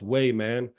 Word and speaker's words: Wehman: like yeah it's pronounced way man like someone going all the way for Touchdown you say he's going all the way man you could go all